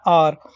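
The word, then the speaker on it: hour: Exception कैसे कि इनकी जैसे आर को हावर नहीं पढ़ा जाता। अगर हम इसका प्रोनाउंसिएशन देखेंगे तो इसका प्रोनाउंसिएशन होता है आर, तो आर के साथ आएगा एन।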